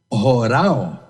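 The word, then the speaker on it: ὁράω: Eu tenho uma irmãzinha que sempre pede para dizer as sílabas, O, é um H-O-R-A-W, horao.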